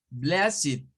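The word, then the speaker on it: blessed: que esos son adjetivos Entonces todos los vamos a pronunciar como it O sea que ese va a sonar como blasit learnid wikidet it aquí se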